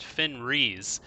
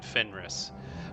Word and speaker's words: Fenris: you can see and the reason I'm saying Fenris and not finres is because he himself pronounces it finrus whenever he was speaking to me last episode but anyway that's besides